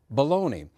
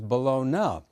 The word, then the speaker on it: baloney: you to know that we debated long and hard about the correct pronunciation of the meat product which most of us call baloney but which you just heard little Oscar refer to as balona it's hard to imagine